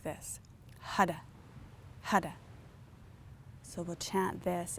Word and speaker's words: Har: Hara is H-A-R, and the R is a hard R, so it's like a D.